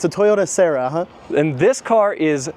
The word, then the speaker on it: Sera: 1993 Toyota Sera, I guess is how you pronounce it? Yeah, that's right. It's a Toyota Sera, huh?